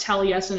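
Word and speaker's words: Taliesin: incorrectly too but um I think it's pronounced talles in and it's t a l i e s i n okay oh there's somebody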